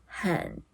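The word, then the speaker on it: 很: Half of the three tones is half of the three tones hěn Like this half-tone, we still have to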